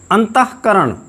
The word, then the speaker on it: अंतःकरण: क्रमशः, क्रमशः नहीं, क्रमशः, अंतःकरण, अंतःकरण नहीं। कुछ लोग अज्ञानतावश इसको अंतःकरण बोल देते हैं, किंतु वह अशुद्ध है। इसका शुद्ध उच्चारण है अंतःकरण, अंतःपुर, हाँ नहीं, अंतःपुर, प्रातःकाल, प्रातःकाल नहीं, प्रातःकाल।